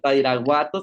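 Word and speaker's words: Badiraguato: Y pues trabajo en Badirahuato, así se pronuncia Badirahuato, Sinaloa.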